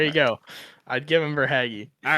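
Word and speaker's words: Verhaeghe: Um, can I take Carter Verah? Carter Haggy. If you could say his name right, I'd think about giving him to you. But say his name right. Carter Vhaggy. Verhaggy.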